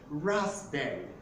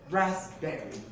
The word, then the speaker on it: raspberry: is not pronounced as a raspberry but it's pronounced as a raspberry raspberry the next p is a silent it's a